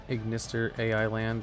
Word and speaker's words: Ignister: Their puns are supposed to pronounce it AI together as I. So it's Ignister AI Land is Ignister Island.